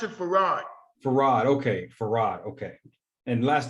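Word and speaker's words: Fard: master pharah fire mohamed farad muhammad will you pronounce it for rod okay farad okay and last name was muhammad though no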